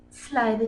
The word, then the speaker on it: slithy: me: how to pronounce slithy toes. The I in slithy is long, as in rhyme, and toes is pronounced so as to rhyme with grows.